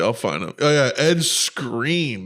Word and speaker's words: Skrein: Oh yeah, Ed Screen. That's his name. It's a pretty funny name to be a screen actor named Ed Screen. But it's spelled Skrein.